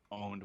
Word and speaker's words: pwned: And in fact, here's for some reason like to say owned when it is spelled PWNED.